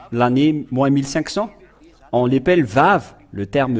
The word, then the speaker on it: Vav: Et ce que je veux en venir, c'est que vous voyez ici le terme Vav qui se prononce V.